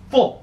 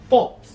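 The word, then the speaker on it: Fultz: after me marel marel fols fols no say fults fults now the Suns the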